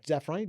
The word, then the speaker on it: Zafrani: Zafrani, did I say that Yeah, correctly? Pronounce it Zafrani.